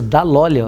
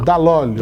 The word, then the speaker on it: Dall'Olio: É bem italiano esse Dall'Olio, né? Totalmente. Eu pronunciei certo? Isso, Dall'Olio. Dall'Olio.